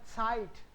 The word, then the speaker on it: Zeit: जो z है उसको हम लोग ts साउंड करते हैं, site. ich habe keine Zeit, ich habe keine Zeit, Zeit.